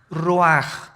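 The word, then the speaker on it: רוח: El ruaj que se escribe r u a c h. Ruach en el hebreo y se pronuncia igual ruaj.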